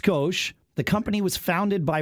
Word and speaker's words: Scosche: skosh meaning it's little it is pronounced skosh the company was founded